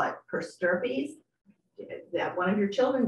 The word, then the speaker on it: per stirpes: estate to your children per stirpes, how do you spell that? P-E-R-S-T-I-R-P-E-S. Two words. It looks, it, you would think it's per stripes, but you reverse the I and the R.